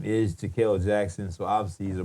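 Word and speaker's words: Jahkil: get into right now, but his name is Jaquel Jackson. So obviously he's a brother. and that's spelled J A H K I L Jackson.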